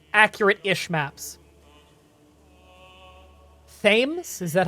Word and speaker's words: Thames: Pronounced Thames. Right, the River Thames.